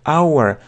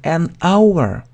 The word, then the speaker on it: hour: а второе our H буква H не произносится our То есть это согласный звук а правило что если у вас начинается осуществите на согласный звук то вы должны поставить N поэтом говорим an Hour an Hour получается an